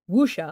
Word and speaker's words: wuxia: So that was referred to as wuxia, if I'm pronouncing, yes, this correctly.